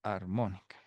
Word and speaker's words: armónica: Podemos calcular la media armónica, ¿no? Armónica es con acento en la O.